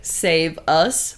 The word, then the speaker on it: Saveus: So the song is called Dark Vibrations and it's by Saveus. It's spelled like save us, but in one word, so Saveus.